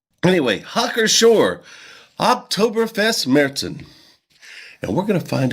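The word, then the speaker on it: Märzen: and I'm going to pronounce this correctly now medson that's how you pronounce it believe it or not I didn't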